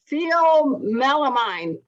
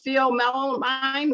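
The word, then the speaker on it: pheomelanin: It's Pheomelamine. Oh, yeah. Well, you're mispronouncing it badly. Okay, good. What is the right pronunciation? That's why I'm on a show, man. That's why I host. I don't know if I can say it right either. It's like phenylamine.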